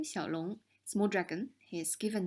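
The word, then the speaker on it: 李小龙: will feel a bit more at ease italy xiao long lisa family name xiaolong small dragon his given name in this red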